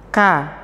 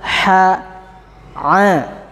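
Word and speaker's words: ح: Huruf ha itu pengucapannya enggak ka. Ya. Begitu. Pengucapannya adalah ha a gitu ya. Itu yang benar.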